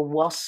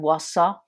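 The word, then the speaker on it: Warsaw: selon les les prononciation Wass on va dire plutôt was ou Wassa selon la prononciation britannique ou américaine donc c'est c'est Varsovie on l'écrit W A R S a W donc vous voyez que c'est c'est diff de varsovi mais voilà ça ça fait partie des des capitales qui changeent entre le français et l'anglais donc prononcez bien was was j'ai conjugué le verbe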